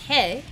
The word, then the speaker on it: Rey: own spirit wolf named rey or in portuguese pronounced hey geo is ready to